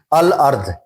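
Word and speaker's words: الأرض: अल दाखिल करते हैं अल तो अल कंप्लीटली पढ़ा जाता है अल अर्ध अल अर्ध अब हम कंप्लीटली अल को रीड आउट कर रहे हैं और हम कंप्लीटली अर्ध पढ़ रहे हैं अल अर्ध और इसको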